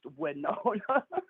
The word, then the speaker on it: Winona: and by the way it's pronounced Winona Winona we're known as you